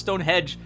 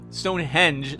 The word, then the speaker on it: Stonehenge: hedge thank you destruction I always pronounce stonehedge Stonehenge stone hedge like hedging our bets or a shrubbery is around the place I'm being funny and